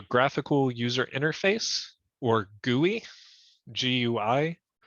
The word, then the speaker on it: GUI: And it's either run through a graphical user interface or GUI, G-U-I, it's pronounced GUI, or a CLI, which is a command line interface.